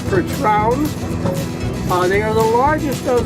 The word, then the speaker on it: Percheron: Their heritage is from France. Their actual pronunciation is Percherons.